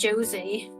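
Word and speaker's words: José: Yeah, I usually spell my I say my J's as a Y sound because I say my J's as an H, like Jose. Jose.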